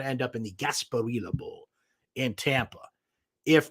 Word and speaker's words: Gasparilla: Fenway Park or now I'm not sure exactly how you pronounce this this is actually a big Festival in Tampa uh it's basically their Mardi Gras that's Gasparilla I believe is how you pronounce that maybe some friends in